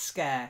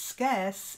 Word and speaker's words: scarce: one for let's guess you've got to get this at the end otherwise it's scare to scare someone but if it's scarce it's rare it's in short supply so scarce try it very good well done